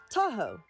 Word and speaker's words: Tahoe: And it sounded like da-o, Tahoe.